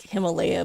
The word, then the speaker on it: Himalaya: It's like Himalaya, but pronounced correctly.